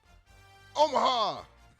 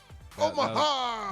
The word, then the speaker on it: Omaha: Remember, it's more of a 3-syllable saying. Omaha. There you go. Omaha. That first one was like 2 syllables.